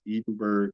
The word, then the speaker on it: Edinburg: acre cornfield east of Edenberg in the Rio Grand Valley um if uh the the Texas actually pronounced that as Edenberg even though um it was meant to be modeled after Edinburgh in Scotland during the drought conditions